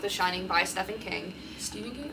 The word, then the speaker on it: Stephen: Shining by Stephen King Stephen King Stephen King not stepan it's spelled like stepan but it's Steven and I hate it Stephen